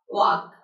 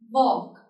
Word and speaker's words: walk: Talk, walk, what? Good. So you can see this letter L is not at all been pronounced. Talk, walk, would, and jog.